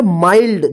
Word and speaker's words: mild: MILD, इसको क्या पढ़ेंगे, माइल्ड, देखिए यहां पे एन नहीं है, फिर भी इसको आई का आई उच्चारण हुआ है माइल्ड, इसको मिल्ड मत पढ़िएगा, ठीक है ना।